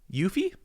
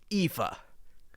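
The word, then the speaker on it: Aoife: listening on the podcast the spelling is a o i f e yuffie you know that's actually not far off it's it's Eva IFA yeah yeah are they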